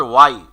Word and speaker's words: why: ইয়েস, হোয়াই এর সঠিক উচ্চারণ হচ্ছে ওয়াই।